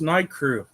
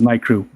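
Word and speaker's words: NICREW: aquarium equipment ni I r e w it's n crew that's how I've always pronounced it as well yeah I would say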